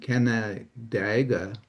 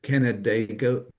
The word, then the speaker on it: Canandaigua: Well, it's like Canada and then uh Daigua.